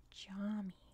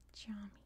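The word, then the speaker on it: cami: English what a concept the most challenging letter is C which is pronounced like an English J that's why it was pronounced like a j for example the word for mosque is pronounced Jami see I knew was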